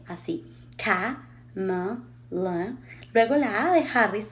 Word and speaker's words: Kamala Harris: Número 1, el nombre se escribe con 3 A's, pero en todas las A's no se pronuncian así fuertes como en español. Kamala. No, la primera A sí es fuerte, A, y tiene el acento K. Las otras dos A's se pronuncian más cerradito y como si fuera una E, así.